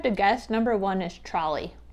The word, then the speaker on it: Trolli: light trolley trolley okay after some research it is actually pronounced trolley i do apologize okay